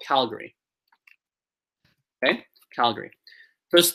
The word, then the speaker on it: Calgary: 3 syllables in both, but we say Calgary, but Alberta. So in Alberta, the second syllable is where the stress is. In Calgary, it's the first one.